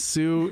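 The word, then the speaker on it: Sioux: way suie is spelled it's Sue Sue like the Dakota Su Dakota sue the the the native tribe there uh Susi and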